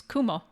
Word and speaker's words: kumo: Cloud uh but um the word for cloud in Japanese is Kumo that's the Japanese word